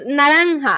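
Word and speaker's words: naranja: Orange is naranga.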